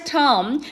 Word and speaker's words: tomb: And his father's tomb was near 화성행궁. tomb은 뒤에 비는 묵음이에요.